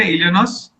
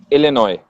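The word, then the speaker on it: Illinois: इलिनॉइस? इलिनॉय। इलिनॉय। S silent.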